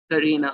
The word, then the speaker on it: Karena: Can you tell me the right pronunciation? It's Karena. Karena.